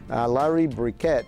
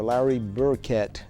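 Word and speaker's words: Larry Burkett: Cómo manejar sus finanzas Larry bricket o Larry burket dependiendo de Como algunos lo pronuncien Ah fue uno de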